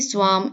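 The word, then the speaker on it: swarm: যেমন দেখো উপরে দেখিয়েছি সোয়াম এখানে গ্রুপ এখানে ফ্লক এখানে এখানে হল সেট আচ্ছা স উচ্চারণ যখন আমরা করব তখন আমরা আর এর উচ্চারণটা করব না স অফ বাটারফ্লাই ডন্সেস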